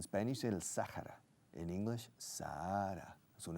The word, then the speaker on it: Sahara: In English, Sahara. Es un H. The Sahara Desert. El H se pronuncia, se aspira.